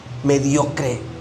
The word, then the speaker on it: mediocre: Es decir, ¿estoy siendo mediocre? Siempre hemos dicho mucho, ¿verdad? Que esta palabra se escucha fuerte, pero no es así como se pronuncia de tan fuerte, no. Mediocre.